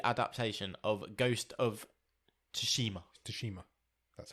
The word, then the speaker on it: Tsushima: Tsushima. That's how you pronounce it.